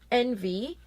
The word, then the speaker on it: NV: this is their new line of foundations called envy it's the actual letter N and V but pronounced and V like envy anyway this foundation